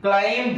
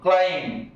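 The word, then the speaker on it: climb: তারপর দেখো এটা এম এর পর বি এসছে, সি এল আই এম বি, ক্লাইম্ব নয়, ক্লাইম্ব, ক্লাইম্ব।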